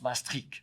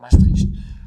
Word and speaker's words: Maastricht: pas comment on prononce les les Néerlandais prononcent mastrich voilà mais on peut dire Maastricht à partir de de